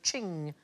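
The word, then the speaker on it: Qing: will get there eventually it rhymes with bling thing thing I like thing most expensive Chinese item ever sold at auction is a Ching vars it went for 43 million pounds in 2010.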